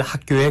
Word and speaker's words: 학교: So here, 리디아 씨, 오늘 학교에 가요? repeat. 리디아 씨, 오늘 학교에 가요? Okay, 리디아 씨, 오늘 학교에 가요? Okay, 학교. Always remember, we are going to have the second syllable being in a like primary stress or something.